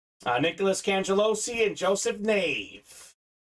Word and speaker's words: Nave: Nicholas cangelosi and Joseph Nave a knave like the wave I know that for sure because he told me that's how it's pronounced uh so let's keep